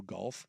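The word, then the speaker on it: Gauff: Suk drop a Coco golf maybe yeah probably I mean golf golf yeah it it I mean she does uh phonetically it would be the exact same as Jared golf so Dam sure you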